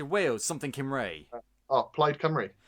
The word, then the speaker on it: Plaid Cymru: Oh, Plaid Cymru. Plaid Kimray, yeah. And we always thought that it was called like Plaid Kimru or something like that. It's like no. This is how you say it.